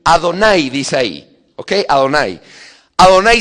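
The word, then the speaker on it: אדני: Señor, en hebreo se escribe así, Adonay.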